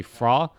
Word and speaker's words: Fhra: I am I can see fra the H is silent alright and I I just